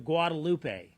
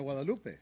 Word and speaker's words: Guadalupe: Can you pronounce that river when you said that? Oh, the Walupe. The Guadalupe. Yeah. The Gualupe.